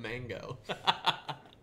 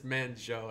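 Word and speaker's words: Manjot: And Nick keeps calling him Mango. His name is Manjo, M-A-N-J-O-T. Mango. That's how I would spell it. It literally spells Manjo.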